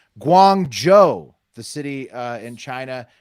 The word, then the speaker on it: Guangzhou: first up a little fact check Friday it's pronounced Guangzhou the city uh in China near Hong Kong